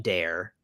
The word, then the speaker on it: Dare: It's spelled like dare. For years and years, when I would see it on heat sheets, I thought his name was Dare Rose. It's pronounced Dare because his full name is Oladare.